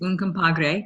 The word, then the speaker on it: Un Compadre: And the third one is Un Compadre. Did I pronounce that right?